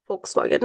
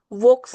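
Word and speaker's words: Volkswagen: वोक्स नाही म्हणत, फोक्स वॅगन उच्चार आहे याचा. कारण की ही जर्मन कंपनी आहे, फोक्स वॅगन.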